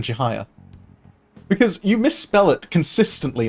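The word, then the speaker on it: Chihaya: Is it deliberate you calling her Chihuyu, rather than Chihiya?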